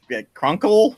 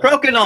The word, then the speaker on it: Crokinole: Norm was so much fun talking about Cronkle? What was that game he talked about? Crokinole. I can't pronounce it.